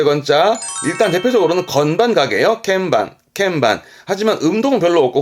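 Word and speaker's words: 鍵盤: 건자 대한 설명 때문에 드렸던 말씀입니다 요건 반자라오에 발음은 캠방 캠방네 맞습니다 피아노 건반이 피아노 건반이 키포인트 아아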